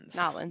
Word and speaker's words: New Orleans: but they stopped in new orleans i can't ever say it right new orleans new orleans nollins nollins there we go and nylons and uh